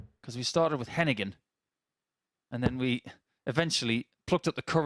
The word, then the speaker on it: Heneghan: because we started with Heneghan, and then we eventually plucked up the courage to walk up to the lads and say, 140. okay, tell us how to say it. And they said, Heneghan.